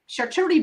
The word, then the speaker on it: charcuterie: Charcuterie board.